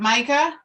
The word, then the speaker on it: Micah: You can find Micah's. Is it Micah?